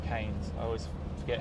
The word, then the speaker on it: Keynes: This is Keynes' approach, the Keynesian approach, I should say, Keynes. I always forget how to pronounce his name.